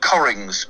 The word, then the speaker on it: Cockering: club and now this one's called corings it's spelled slightly differently to corings but it is called cory we can't say on the radio how it's spelled well i can it is an actual english word yeah it's it's not it's not what it is it's actually spelled c-o-c-k-e-r-i-n-g and and the the